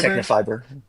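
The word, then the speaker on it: Tecnifibre: Is it Technafiber? Technafiber.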